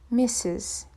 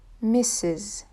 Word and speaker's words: Mrs.: M AR s is pronounced missus so the double s it's pronounced with the sounds and the last s is pronounced with the sound missus repeat one more time perfect now missus is